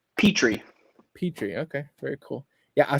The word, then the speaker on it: Pitre: how do you say your last name petrie petrie okay very cool yeah i saw somebody else